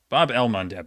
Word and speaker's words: Bab el-Mandeb: The thing is, like, it's spelled differently all the time because of, like, Arabic transliterations. Bab el-Mandeb? Bab el-Mandeb.